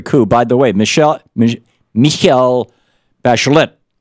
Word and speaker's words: Bachelet: By the way, Michel Bachelet in Chile, they pronounce the T. Michel Bachelet was just elected along